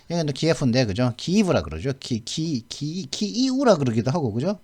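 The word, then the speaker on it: Київ: 키이우라 그러기도 하고 그죠? 발음을 제가 잘 모르니까 제가 러시아를 모르니까 키이우라 그러더라고요. 또 원래 우크라이나 말로는 키이우. 근데 우리는 키예프라고 쓰죠.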